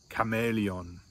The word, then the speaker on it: Chamäleon: best of my knowledge, are all pronounced with a hard K sound, just like the letter K, with a hard K sound. Here's some examples. For instance, we have character, chaos, chameleon.